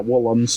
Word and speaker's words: Woolams: Yeah, Woolams. It's spelled W-O-O-L-A-M-S.